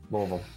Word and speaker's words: Louisville: Louisville. Yeah, you got kind of like swallow it.